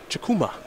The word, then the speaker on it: Chukwuma: jonathan jobe and benedict chakuma the w is silent i can do that